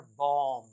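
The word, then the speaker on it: bomb: बी ओ एम बी इसे my dear learner पढ़ते हैं बॉम बम इसमें भी बी का साउंड नहीं होता माय यलर बम बम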